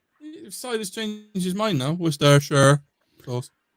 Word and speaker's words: Worcestershire: Must be a similar soy sauce, Worcestershire sauce, barbecue spice.